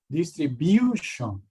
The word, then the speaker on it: distribution: Distribution. Number 2, normal. Distribute. The U here is pronounced IU.